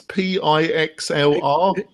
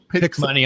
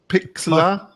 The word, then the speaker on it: Pixlr: So another one we're going to look at is I don't know how to pronounce it. It's Pixlr. Pick money. I pick money. Pixlr.